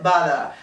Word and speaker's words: bother: The word is bother. Bother is spelled B-O-T-H-E-R, and the sound TH, to pronounce this sound, we have to put our tongue between our teeth.